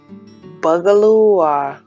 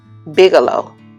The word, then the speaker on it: Bigelow: from walmart um by i think bugaloo am i saying it right i don't know bugalope why don't i just look at the tag huh bigelow bigelow yeah that's the way he said wow i messed that